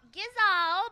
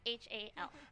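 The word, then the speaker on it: Gysahl: We just learned it's called Gizal, but he's right. Okay. That's how it looks. Gizal. It's Gyshal.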